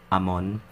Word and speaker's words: Amon: That's not, I'm trying to sound Caucasian or American. It's Morissette Amon. That's it. Morissette Amon. That's how you pronounce it.